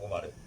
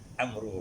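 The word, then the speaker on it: عمرو: Bukan Umar, Amru bacanya.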